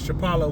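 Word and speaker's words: Shephelah: In the Hebrew, that's how you say it, Shapala, which means valley or lowland.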